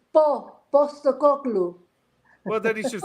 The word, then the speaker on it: Postecoglou: But I'm the only one who can actually pronounce his name right. Postecoglou. It's Postecoglou. Well, then he should spell it with the B, not a P. Because he's the boss, you see. It's Postecoglou.